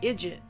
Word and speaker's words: idiot: I also read that Declan Hockney isn't too fond of being called an idiot, or as the Irish pronounce it, an idjit.